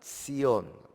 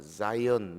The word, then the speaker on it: Zion: 시온이 뭐냐 하면 히브리 말로는 시온. 근데 영어식으로 발음하면 자이언 이렇게 하기도 하고, 우리말의 시온이 히브리 원어에게 가깝습니다.